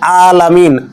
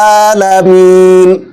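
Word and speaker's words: العالمين: রব্বিল আলামিন রাব্বিল আলামিন আইন উচ্চারণ হবে এখানে অনেকে বলে রাব্বিল আলামিন আলামিন বললে ভুল হবে আলামিন বলা যাবে না বলতে হবে আলামিন কি বলতে হবে আলামিন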